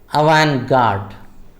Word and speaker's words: avant-garde: It is avant-garde. The T is silent.